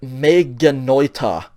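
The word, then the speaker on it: μὴ γένοιτο: Okay, and it's pronounced and it's read me genoita.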